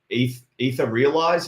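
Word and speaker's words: Etherealize: Ether Realize, is it? I'm pronouncing that right, Liam? Yeah.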